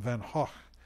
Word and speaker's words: Van Gogh: And I often think of Van Gogh, or as my teacher in college used to call him Van Gogh, Vincent van Gogh. The Dutch pronunciation, I guess.